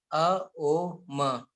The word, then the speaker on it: Om: It as it consists of three parts. U plus O plus m a O m when we pronounce it like this. How okay then then it will give its full effect.